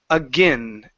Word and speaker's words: again: Instead of again with a long a sound, it will be a short I or a schwa sound if you want. So it's again I I again again.